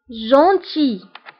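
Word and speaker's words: gentil: لطيف جونتي، فهنا ال لا ننطقها، نقول جونتي.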